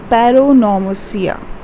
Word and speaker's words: paronomasia: Okay, pun is also known as paronomasia. Okay, I'll write it over here. It's also called as paronomasia. Paronomasia. Okay, 3 syllables, and you're going to say it like this.